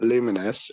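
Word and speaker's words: Lumines: Uh, Luminous, which I'm reliably told is how you pronounce it, Arise.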